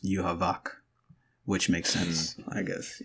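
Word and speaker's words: Yhwach: you you okay so the Japanese pronounce it but it's a German name obviously and in German is supposed to be pronounced you Havoc which makes sense I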